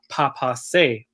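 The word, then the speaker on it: baapaase: a woodpecker which in the Ojibwe language it's pronounced Papa say and so this song that I composed is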